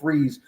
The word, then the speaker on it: Fries: I don't know if it's Freeze or Fries. I believe it's pronounced Will Freeze from Indianapolis.